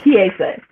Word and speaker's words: Kiese: It's Kiese.